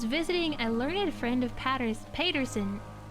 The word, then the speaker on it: Paterson: a learned friend of Paterson. Paterson? Is that how you say it? Paterson or Patterson? New Jersey. Sure, I did it because of what? Yeah, totally because you got Patterson? Okay. Patterson, New Jersey.